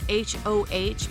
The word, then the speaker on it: Hoh: It's spelled H-O-H, but it's pronounced Hoh, and it's named after the tribe of Indians that were found here.